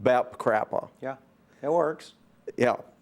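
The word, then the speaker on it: BAPCPA: calling something that is the initials of which are b.a.p bap cpa which is unpronounceable but you have you managed to announce it to pronounce it bap crap oh yeah it works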